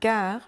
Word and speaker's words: gare: Un laboratoire ton anniversaire la gare. Je vais à la gare. Les épluchures. Des mots où le e final ne se prononce pas.